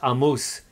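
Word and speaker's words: עָמוֹס: to point out that this book is pronounced a moose in Hebrew here the Prophet a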